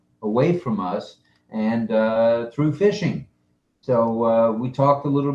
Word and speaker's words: phishing: A lot of that can be hacked away from us and through phishing.